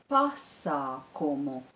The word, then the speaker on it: pasākumu: Biļetes uz pasākumu. I'll repeat it. Biļetes uz pasākumu. Do you hear stresses? The stress is on the syllable bi, biļetes, and on the syllable pa, pasākumu. I'll repeat these three words again.